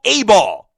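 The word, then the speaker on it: Ayball: I want you to check out a new game from your app store called A-Ball. And it's pronounced and it's spelled A-Y-B-A-L-L.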